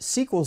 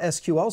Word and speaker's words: SQL: with Microsoft sequel server I call it sequel server and not SQL server because pretty much everyone